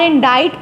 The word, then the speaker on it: indict: INDICT, इंडिक्ट इसको लिखते हैं और इंडाइट पढ़ते हैं, इसमें सी साइलेंट होता है। इंडाइट, ये इंडिकेट से है वर्ड, इंडिक्ट इसको लिखते हैं, इंडाइट पढ़ेंगे। इंडाइट करना, इल्ज़ाम लगाना या मुल्ज़िम ठहराना।